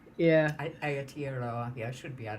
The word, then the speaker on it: Aotearoa: yeah, Aotearoa. Yeah, Aotearoa. Yeah, I should be able to yeah, pronounce that.